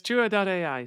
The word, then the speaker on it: Jua.ai: I'm pronouncing this Jua.ai. It's Jua.ai.